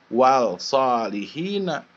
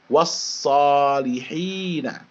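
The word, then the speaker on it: والصالحين: ke dalam huruf shod Jadi bagaimana bacanya bukannya wall sholihina bukannya dibaca wall sholihina tapi wash sholihina ya wash sholihina nanti setelah ini kita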